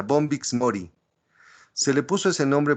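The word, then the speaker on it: Bombyx mori: El bombix así como se escucha como se pronuncia bombix Mori se le puso ese nombre Porque el gusano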